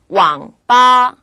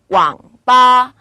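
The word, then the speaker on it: 网吧: 내려갔다가 빠 바로 올라갑니다 왕 빠 왕 빠 이렇게 삼성은 바닥을 친다 꾹 누른다는 느낌으로 발음을 하시면 돼요 두 번째 거 볼까요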